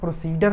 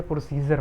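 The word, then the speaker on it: procedure: तो इसको आप प्रोसीडर नहीं पढ़ेंगे, प्रोसीजर पढ़ते हैं, प्रोसीजर इसको पढ़ते हैं।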